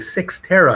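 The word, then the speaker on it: Cyxtera: that's spelled cyx t-e-r-a six terra is apparently how you pronounce it it's a 3.4 billion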